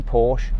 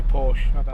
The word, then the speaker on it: Porsche: Slowest Porsche ever.